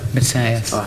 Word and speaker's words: Matthäus: Lothar Matthaus, or Matthäus. Matthäus. Whichever you prefer. Matthäus. Because that's the correct pronunciation.